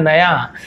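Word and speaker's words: knew: उसका मतलब होता है नया। लेकिन यदि के लगा है तो भी इसे न्यू पढ़ते हैं, क्योंकि के यहाँ पे साइलेंट होता है।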